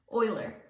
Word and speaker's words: Euler: All right, with polyhedrons, there's a guy named Euler. It looks like Euler, but you pronounce it pronounced like oil. Euler.